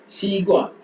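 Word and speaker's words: 西瓜: சீகுவா சீகுவா சீகுவா xi ஷி. so பாருங்க xi ஷி gua குவா சீகுவா சீகுவா சீகுவா சீகுவா சீகுவா சீகுவா.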